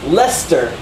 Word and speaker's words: Leicester: So Leicester, like the name, like Lester Holt, is not in the dictionary.